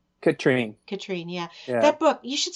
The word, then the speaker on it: Katrin: Katrine, yeah.